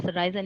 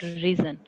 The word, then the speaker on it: Ryzen: It's of course Ryzen. It's not reason.